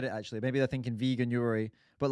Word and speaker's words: Veganuary: Veganuary. Veganuary.